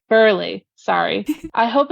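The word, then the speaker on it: Burghley: I hope it's the Burgling one. Burgley one, not Burgling. Or how is it pronounced actually? Burley.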